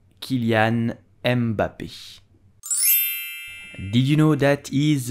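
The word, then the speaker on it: Kylian Mbappé: you will say foreign you have an accent at the end so you will pronounce and not embap Kilian mbappe did you know that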